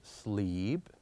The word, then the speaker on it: sleep: So here we said that with EA, they are pronounced differently in different words. So for example, here we pronounce it as sleep, read, and head. Sleep, read, head. So in sleep and read, we have a longer vowel. But with the last one, we have a very short one.